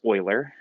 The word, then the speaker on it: Euler: Euler it's his last name EU le are pronounced Euler and was first discovered by one of the